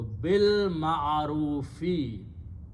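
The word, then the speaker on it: بالمعروف: So bil ma'arufi. Okay, it's in the Quran. You just combine ba with the lam and pronounce with the lam and leave alif there.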